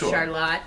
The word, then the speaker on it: Charlotte: So, Charlotte, with the French pronunciation.